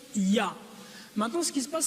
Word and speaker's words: Yah: yhw et la translér les deux premières parties y h se prononce ya maintenant ce qui se